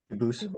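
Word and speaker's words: Dubois: get your name straight I know a family with that the same exact spelling in American they do pronounce it dubis but you said you pronounce it duus as the original du Boose as the original French French yep very well Duo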